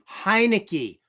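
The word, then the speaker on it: Heinicke: overtake Ser Servo Servo it's pronounced hinei not Montana hinei oh I forgot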